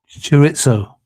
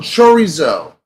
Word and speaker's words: chorizo: Churitzo. Cheerios. I don't know what you how you say it in America. We say churitzo. Oh, chorizo.